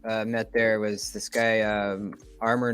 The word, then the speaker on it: RMOR: The one guy that I met there was this guy, Armor Knives. It's spelled RMOR.